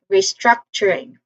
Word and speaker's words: restructuring: So we have restructuring. Again restructuring. Emphasize the second syllable.